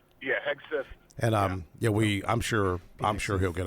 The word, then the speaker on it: Hegseth: I can't never pronounce the last name. Hedgepeth. How do you say his last name? Yeah, Hegseth.